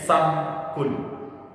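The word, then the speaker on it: سَمْك: Samka, ini pakai sukun di mimnya, samkun. Artinya apa? Langit-langit. Langit itu kalau diibaratkan langit-langit atau atap, ya. Kalau dibacanya samaka, samakun, itu artinya bukan atap atau langit-langit, tapi artinya ikan. Ikan bahasa Arabnya samakun.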